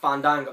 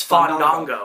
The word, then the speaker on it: Fandango: No, you got to pronounce his name right. It's not Fandango. It's Fandango, yeah. It's Fandango. Cheap movie tickets was not chanted.